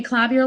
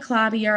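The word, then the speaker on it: Klavier: so that's just me I say clavier like clavier I'm not sure I've never I don't think I've heard anybody else pronounce it another way but I'm sure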